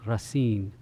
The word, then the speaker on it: Racine: have been Jean Baptist grain I think is how they pronounce the name Jean Baptist Rasin Jean Rasin was a